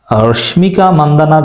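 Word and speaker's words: Rashmika Mandanna: উদাহরণের যে তথ্যগুলো যেমন তিনি রাশ্মিকা মান্দানা বলেছেন আসলে রাশ্মিকা মান্দানাও না এই বিষয়ে এরকম কোন নায়িকা নেই বিষয়টি সঠিক উচ্চারণ হচ্ছে রশ্মিকা মন্দনা এর মানে তিনি ভালোভাবে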